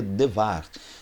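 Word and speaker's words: דבר: Mas também quando nós falamos de Debar, e vamos para o hebraico, da ideia de Debar, ele vem de Devar, a pronúncia, embora a gente escreva no Brasil Debar, mas a pronúncia seria Devar, que vem de Davar, e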